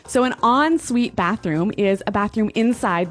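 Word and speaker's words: en-suite: UI t e so even though it's e n we pronounce it like an o n yep on Suite so an on Suite bathroom is a bathroom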